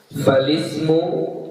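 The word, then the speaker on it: فالاسم: Falismu yu'rafu bil isnadi ilaihi. Cara baca yang benar falismu, ya. Jangan dibaca falismu. Kenapa? Karena hamzah yang ada pada kata ismu itu adalah hamzah wasal, ya.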